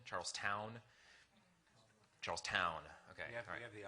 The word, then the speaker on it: Charlestown: How is it pronounced? Is it Charleston? Charlestown?